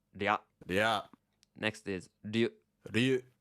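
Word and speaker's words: rya: So we spell this R-Y-A, and it's pronounced ria.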